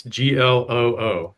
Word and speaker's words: Gloo: It's Gloo, but we spell it weird, Dale. It's Gloo.